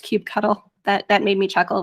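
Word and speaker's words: kubectl: they um have definitely it is now written down it is pronounced cube cuddle that that made me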